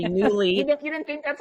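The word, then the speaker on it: Nuuly: up I would say it's spelled n uu l y because a friend recommended it to me a few months ago and I couldn't find it because I heard her say newly you didn't think that's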